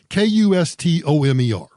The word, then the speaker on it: Kustomer: And then there's this last one called Customer, but spelled with a K. Kustomer.